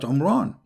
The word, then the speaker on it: Imran: of Moses and Aaron because his name is Imran so the last letter is M not in so the foolish Mohammed he thought that Mary she is the daughter of imran and imran is the